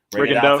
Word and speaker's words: Rigondeaux: Rigondeaux.